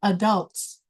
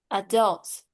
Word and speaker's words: adults: Adults. That's right. This word has two ways you can say adults, like that. The second syllable is a stress. Or you can say adults, adults. Okay, that's another way.